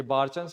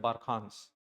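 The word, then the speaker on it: barchan: ये बारचंस हम यूजुअली ऐसे बोल देते हैं, इसका ओरिजिनल प्रोनाउंसिएशन जो है वो है बारखांस।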